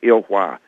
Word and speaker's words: Ilhwa: But the name of it is Ilhwa. It's spelled I-L, 2 words, I-L-H-W-A.